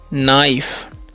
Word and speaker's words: knife: और KNIFE है तो इसे हम लोग पढ़ते हैं नाइफ, KNOT है इसे हम पढ़ते हैं नॉट, ठीक है।